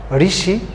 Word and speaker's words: ঋষি: যেমন এখানে মূর্ধন্য স আছে, কিন্তু আমরা যখন উচ্চারণ লিখছি তখন লিখছি ঋষি তালব্য স দিয়ে।